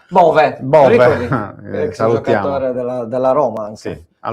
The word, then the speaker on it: Bove: Come dice che si pronuncia Bowie. Bowie. No, Bovi. Bov, anzi, direttamente Bov. Bove.